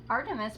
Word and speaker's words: Artemis: Artemis, pronounced Artemis, Diana to the Romans, is the Greek goddess of the wilderness, nature, childbirth, and the moon.